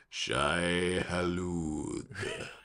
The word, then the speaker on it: Shai-Hulud: Anyway, except for Shai-Hulud, which I prefer to pronounce like the guy in the 84 movie. Shai-Hulud.